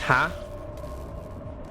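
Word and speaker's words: ห้า: Five in Tai is pronounced ha.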